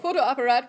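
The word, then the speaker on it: Fotoapparat: So break this one down into 2 parts when you're pronouncing it.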